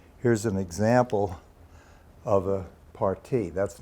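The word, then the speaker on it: parti: the program a party spelled PA RTI that pronounced party is an architectural term could be anything from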